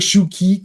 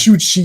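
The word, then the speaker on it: Shu Qi: It it's it this looks like Shuki K. Yeah, Shuki or something. Yeah, but it's Shuchi is the way you say her name.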